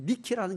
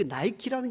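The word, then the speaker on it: Nike: 거기에서 본을 받아가지고 V자 승리라는 이 니케라는 것은 승리의 여신이라는 뜻을 가지고 있거든요. 거기서 나온 이 문양 로고가 나이키 문양입니다. 그 나이키라는 것은 니케라는 여신의 영어식 발음입니다.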